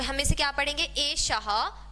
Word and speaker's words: एषः: अब मैं बार बार ह साउंड जो है वो प्रोनाउंस कर रही हूँ यहाँ पर एषः, जबकि यहाँ ह नहीं लिखा है। तो ये जो प्रोनाउंसिएशन है ह वाला, ये कहाँ से आया है, ये विसर्ग से आया है।